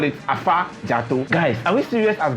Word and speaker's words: Afadzato: Anyway, so the V, the Germans couldn't pronounce the V, which is funny because they have some versions of Ewe in their language is, well, long and short, they couldn't pronounce the V language, so they decided to make it F.